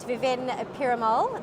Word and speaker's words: Viven Perumal: and over here with us today we've got viven piramal the marketing manager of conlog i hope i pronounced your name correctly that's correct thank you